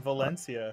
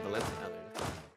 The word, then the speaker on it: Valencia: Valencia. Valencia. TH. If there's ever an S or a S or a C that makes an S sound in Spanish, you just pronounce it with a TH.